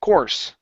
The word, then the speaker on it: course: course off course okay instead of Co core give me an R sound core course course okay very good okay